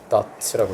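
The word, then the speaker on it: doubt: dot는 요 B가 묵음입니다. dot라고 읽어요. dot.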